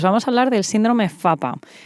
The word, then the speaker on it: PFAPA: a hablar del síndrome fapa que se escribe pfapa en realidad Porque son el acrónimo